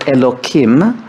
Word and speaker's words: Elokim: So if we're going to speak tonight in terms of the word Elokim, which I pronounce with a k, not a hey, her, because that's another way of not expressly pronouncing it, we're talking about the God that hides through nature.